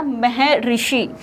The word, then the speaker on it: महर्षि: तो उदाहरण है जैसे महा प्लस ऋषि, महा प्लस ऋषि, तो इसका शुद्ध उच्चारण होगा महर्षि।